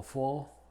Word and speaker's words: faux: Y es muda en pocas palabras que provienen del francés, como faux, faux pas, do, and rue.